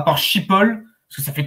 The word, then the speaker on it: Schiphol: Schiphol. C'est comme ça que ça se prononce. Schiphol.